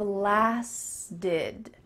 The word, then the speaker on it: lasted: So both past tense verbs, started, lasted, have the same type of pronunciation. The T's changing to a D, and that final ED ending is going to sound like id.